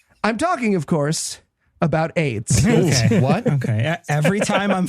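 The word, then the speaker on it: Ayds: that yeah that's right podcast listener you heard me correctly Aid spelled a y DS oh it's spelled different okay we all felt stupid but that fixes it it uh really was pronounced that way I I I know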